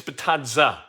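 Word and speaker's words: Bitadze: You've got really a starting lineup who's sitting kind of Miles Turner, Goga Batadze, and it's Batadze, not Batadze or Batadze.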